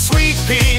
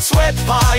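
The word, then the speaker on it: Sweet Pie: say her name rightly it's sweet PE not sweat pie your duns don't even try not sour pie her sweet fry she'll hex you till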